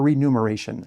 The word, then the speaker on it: remuneration: Is it remuneration or remuneration? I think it's remuneration, but it's spelled with an M.